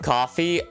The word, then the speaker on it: Ko-fi: How do you give coffee? Well, the site's called Coffee. It's pronounced it's spelled Ko-Fi, but it was originally called Coffee.